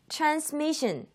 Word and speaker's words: transmission: transmission, transmission, transmission. 강세가 미 하는 그 부분에 가 있습니다. transmission.